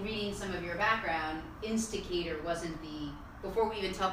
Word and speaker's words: Insticator: Zach is the founder and the CEO of Insticator. Yeah. Am I pronouncing it right?